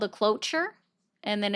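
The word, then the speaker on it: cloture: So, it's called a cloer and then it's you could also look it up by the nuclear option.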